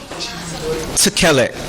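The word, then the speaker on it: תכלת: So tekelet. Under the taf, we have the shwa, which is a silent, and it also makes syllables. The kaf, we have the tsere, which is the two dots across from each other like this. Right? This is called the sere. And the last vowel under the lamed, we have the segol, and that has the s sound.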